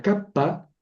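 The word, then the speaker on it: κάππα: La kappa es se escribe como la K, la mayúscula es como la K del español y suena K, siempre, K.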